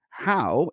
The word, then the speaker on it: Hou: it like h-o-w-e and I said that as a Canadian that's like Gordie Howe so I'm gonna call